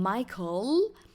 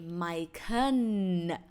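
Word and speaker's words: ไมเคิล: has no no sound so instead of saying michael we say my khan taiwai mai khan i would like to explain a little bit about the word my khan especially the second syllable khan as i explained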